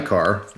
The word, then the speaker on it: Xikar: As far as her other lighter, the lighter that she loves the most, right here, this is a Xikar lighter, that's how you pronounce that.